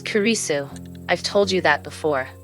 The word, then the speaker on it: Kurisu: your photo in it okay not Christina jun. LS it's kurisu I've told you that